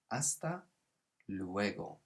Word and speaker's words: hasta luego: later you can say hasta luego so careful with that silent h like in holla we don't say the h the same here so it's hasta luego and hasta luego means